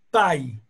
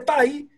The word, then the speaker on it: pi: pronuncia un igual modo pay o sea que el número pi se dice pay y la palabra y